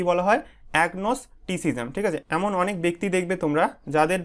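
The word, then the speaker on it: agnosticism: তোমাদের 16 নম্বর থেকে দেখো প্রথমে কি আছে এগনোস্টিসিজাম ঠিক আছে এটা উচ্চারণটা কিভাবে করবে দেখো এগনোস্টি সিজাম ঠিক আছে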